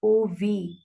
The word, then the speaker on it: of: Dog by Oliver Goldsmith remember that of is pronounced like OV of or FF is pronounced